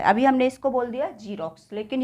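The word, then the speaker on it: Xerox: ये जीरोक्स नहीं है।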